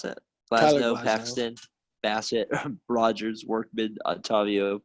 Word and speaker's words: Glasnow: You got Glansow, or how do you pronounce that? Glasnow, Paxton, Bassett, Rogers, Workman, Otavio, Pagan, Ginkle, Presley, Hudson, Medea, Castilla.